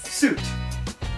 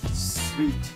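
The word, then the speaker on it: suite: France から来た。難しい発音でしょ。How do you think you pronounce this? Suit. No. Like, suits. I'll give you a hint. It's like a room, especially if it's in a hotel. Sweet.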